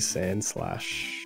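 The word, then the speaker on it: Sandslash: Alright, so we're going to go a bit more heavy in a Mankey Sand Slash.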